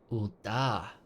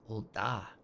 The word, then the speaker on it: Ul'dah: Ul'dah. Oh, I've been saying it wrong like for 4 episodes now. Ul'dah.